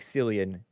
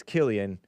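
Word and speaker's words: Cillian: movie this guy Killian Murphy it looks like selan but it's Killian because it's Irish and you do the math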